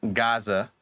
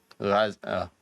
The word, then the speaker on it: Gaza: Like when the word Americans say Gaza, but it's actually Gaza.